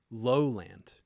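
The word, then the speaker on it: Lohland: albums by them, is Lowland from 1987, I believe. It's spelled L-O-H, second word, land. So it's two words, low, L-O-H, land.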